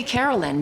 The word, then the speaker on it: Caroline: And she said, maybe we should say Carolyn because it sounds more like the original pronunciation of Caroline.